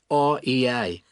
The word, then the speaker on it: Rea: It's ANNE and her surname is spelt R - E - A.